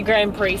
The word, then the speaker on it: Grand Prix: near the Grand Prix so is it a Grand Prix second syllable yeah and we could hear the